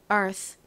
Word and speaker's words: Earth: 나다 보니 마치처럼 소리가 들린다고 설명 드렸었죠 자 발음 연습해 볼게요 Earth Earth 좋습니다 자 같이 적어 볼까요 지구 Earth